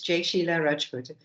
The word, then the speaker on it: Jai-Sheila Rajput: I'm hoping I'm pronouncing this correctly. Please pose your question. Sure, it's close enough. It's Jai-Sheila Rajput.